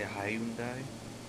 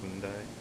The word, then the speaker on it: Hyundai: Some people say Hyundai, but that's just clearly wrong. So it's just Hyundai.